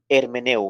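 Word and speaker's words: hermeneuo: la palabra griega para hermenéutica anote es hermenéu hermeneu se escribe h e r m e n e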